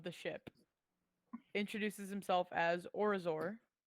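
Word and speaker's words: Orizor: ship introduces himself as orazor it's a it's a mouth or resort spell it how you think it sounds uh sounds like oreo got it o r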